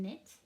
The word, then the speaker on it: knit: We also have the n sound spelled with our K in, where that K is silent. We don't have to make the k sound for the K. The K and the N work together to say n, like in knit and kneel.